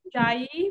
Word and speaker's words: Ujjayi: I think it's pronounced Ujjayi breathing.